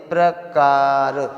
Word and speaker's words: प्रकार: जैसे अब इसका प्रोनाउंसिएशन करिए, प्रकार, प्र, तो रा का उच्चारण पा से पहले हो रहा है या बाद में हो रहा है, बाद में। जैसे प्रकार, ठीक है, तो यहाँ पर